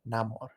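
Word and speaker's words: Namor: CA came before I've seen people pronounce it both ways. True. The way they did it in the MCU was more Latino. It was more Namar.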